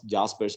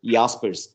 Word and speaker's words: Jaspers: as aspers not as jaspers because that name is a german name therefore it is pronounced as yaspers and uh jaspers argued